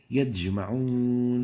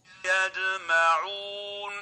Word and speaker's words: يجمعون: Now, another mistake is mixing the sound of the jim with the sound of dal. This is the dal. Example, يدجمعون, يدجمعون, يدجمعون. And this is wrong. The right way of pronouncing it is like this. يجمعون يجمعون. So make sure not to mix the sound of the jim with that of the dal.